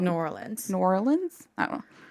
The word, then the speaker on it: New Orleans: new lor new orleans or you could say nolan's woman's how do people sometimes say it like new orleans or something i've heard a lot of different i don't like that one new orleans no that's true okay orleans i think is how i've already said it which